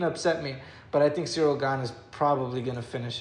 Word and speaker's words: Cyril Gane: Yeah, Cyril Gane.